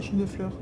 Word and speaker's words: Champ de Fleurs: français, ça, champ de fleurs. Champs de floors? How do you say that? It's Champ de Fleurs.